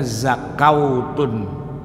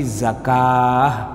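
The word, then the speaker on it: زكاة: belajar ngeja huruf hijaiah dia akan bacanya zakautun zakautun kalau dikasih dah jadi zakutun gitu nah padahal cara bacanya bukan zakautun bukan zakutun tapi zakah dibaca panjang tapi bukanak Alif malah pakai ww ah itu yang namanya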